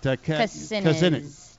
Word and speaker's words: Kucinich: Kucinich. Just like it looks.